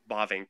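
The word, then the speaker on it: Bavinck: Bavink, yeah.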